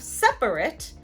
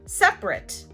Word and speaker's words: separate: Instead of separate, a lot of people will say separate.